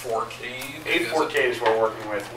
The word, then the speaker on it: A4Cade: I was just curious how you pronounce the name. Is it So it's A4Cade? A4Cade is what we're working with.